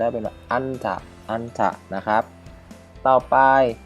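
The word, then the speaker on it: 앉다: อึน ฉืด นะ ครับ นิ อึน ฉืด ก็ คือ ออก เสียง เป็น แม่ กล หรือ หน หนู ก็ ได้ เป็น อันถะ อันถะ นะ ครับ ต่อ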